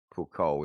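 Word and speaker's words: Foucault: Well, puko is the real pronunciation, but I don't know how to that doesn't measure the rotation of the earth.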